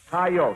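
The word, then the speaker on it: coyote: Colorado according to westerners what is the proper pronunciation of c y o t e Paul hi coyot that is Riot or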